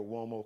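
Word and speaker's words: Uomo: are from the Mario wo collection just go to uh it's m a r iio Mario's easy now wo sounds like it's spelled with a wo uh but it's an Italian surname so it's m a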